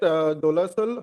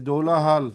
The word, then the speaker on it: Dolahal: At Dolasal High School, It's not Nalbari. Dola Sal, it's Dola Hal. Dolahal. Pronounce properly. My- You are not in Delhi. Well, I'm Dola Hal is Dola Hal, not Dola Sal.